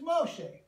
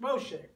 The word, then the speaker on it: Moshe: escape Farrell's wrath and we call him in English Moses but in Hebrew his name is Moshe hey it's Moshe and he is saved